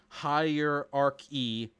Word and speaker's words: hierarchy: with the two bucks hierarchy four syllables hierarchy hierarchy hierarchy [